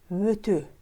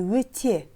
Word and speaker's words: өте: Слово «өте» не произносится как «өте», а произносится как «өтө». «Өтө». Если в первом слоге слова присутствует гласное «ө», то последующие буквы «е» в слове произносятся как «ө». «Өтө». Не «өте», а «өтө». «Өтө».